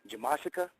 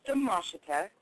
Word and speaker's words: Demashita: Jamashika? Demashita. Close enough. Did I say it right? Dub with a D? It's okay. Or J? It's pronounced Demashita or Miss Demash.